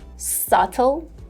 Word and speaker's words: subtle: would be wrong because B here is silent we do not pronounce it and in the British version we would say subtle subtle while in the